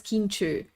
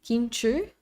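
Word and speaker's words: Kincső: My first name is pronounced as Kinchu. So here you can see Kinchu. The CS in Hungarian is ch, and the o with the two things is ö, like long ö.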